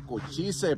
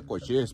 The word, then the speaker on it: Cochise: Me han dicho que se dice cochise, pero no se dice cochise. Se pronuncia cochís, pero sí se escribe cochise en español, si lo pones así.